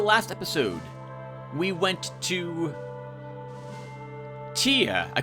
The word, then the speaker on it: Ptia: I thought it was P-I-T-A, like pita bread, which is delicious, especially when you put stew or soup in it. And it's called Ptia. I think the P is silent.